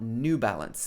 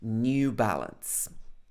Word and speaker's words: New Balance: So notice that in the UK we say new. N-E-U. New. We don't say new. Not New Balance. That's more like the American English pronunciation. We would say New Balance.